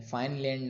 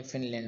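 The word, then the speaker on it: Finland: फाइनलैंड नहीं है, फिनलैंड answer है।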